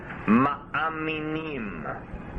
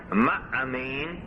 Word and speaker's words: ma'amin: Ma'amin comes from the root amen. Ma'amin means a believer, but a minim, means a sectarian. How do you spell that word believer? M-A-A-M-I-N, ma'amin.